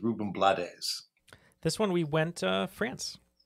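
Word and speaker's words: Rubén Blades: So the next one is usually said Ruben Blades, but I think the actual pronunciation is Ruben Blades.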